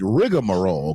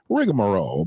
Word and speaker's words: rigmarole: e behind the g they would spell it rigamarole because that's the way we generally heard it that's the way we generally heard it we generally heard it rigmarole but it's really rigmarole and there is a